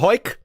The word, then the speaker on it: Hawick: episode he's from the town of hoik which is spelled hawick which is a